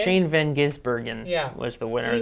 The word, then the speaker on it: Shane van Gisbergen: And what is it, Van Grimsberg? Is that how you say it? Shane Van Gisbergen Yeah.